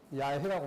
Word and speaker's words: 야훼: 그런데 진짜 유대인들은 뭐라고 하냐면 야훼라고 합니다.